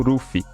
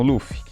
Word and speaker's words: Luffy: A adaptação para o nome do protagonista ficou como Ruffy, com a sonoridade de R sendo pronunciado quase como E.